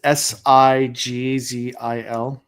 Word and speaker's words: Sigzil: Zigzil. It's Sigzil. Oh, Zigzil. Okay, like that. Because the pronunciation, and I can tell they're trying to